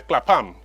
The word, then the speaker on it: Clapham: own this place here Clapham Clapham is the proper pronunciation of their name and they bring you